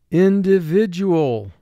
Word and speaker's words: individual: This is a five-syllable word. First syllable, in, two sounds, I, N. Di, two sounds, D, I. Vi, two sounds, V, I. Du, two sounds, D, U. All, two sounds, A, L. In, di, vi, du, all. Mark the word.